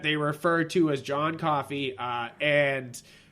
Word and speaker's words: Coffey: Yeah, and then there's this one prisoner that they refer to as John Coffey, and Like the drink, but not spelled the same.